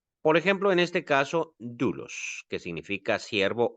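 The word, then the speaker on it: δοῦλος: En este caso no decimos doulos, sino decimos dulos, como si mejor dicho, sobre el diptongo recae el acento, pero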